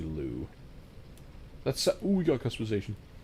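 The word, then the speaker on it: Liu: Her last name is pronounced Lucy Lou.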